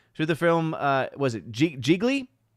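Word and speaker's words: Gigli: A movie that had a drop-off so bad that it's actually now comparable to the film, was it Geely? Geely? I think is how it's technically pronounced.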